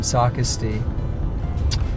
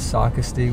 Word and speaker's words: Socastee: brandy mill here in Socastee and oh do you know how Google pronounces Socastee when you're following the Google Maps it's Socastee it's a caste which I'm gonna start